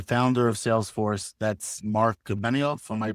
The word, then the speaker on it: Benioff: The founder of Salesforce, that's Mark Benioff. Am I pronouncing Yes, that sir. correct? Yep. Mark Uh, Benioff.